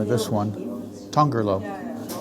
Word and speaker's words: Tongerlo: name of this one tongerlo trying to do like a Portuguese pronunciation um tongerlo would be the Dutch pronunciation it's a nice